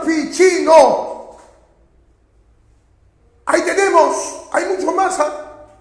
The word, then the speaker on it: Ficino: Otro grande, Ficino, se escribe Ficino con C, se pronuncia Ficino.